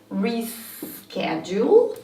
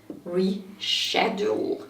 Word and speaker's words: reschedule: And one of the most interesting cases, in my opinion, is this one, which is pronounced as reschedule in American English, but surprise, surprise, reschedule in British English.